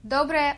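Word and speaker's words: доброе: To say good morning in Russian, you would say Dobrое утро.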